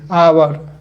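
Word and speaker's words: hour: तो an engineer होगा जैसे आवर एच ओ यू आर आ आ का उच्चारण आ रहा है इसमें तो एन आवर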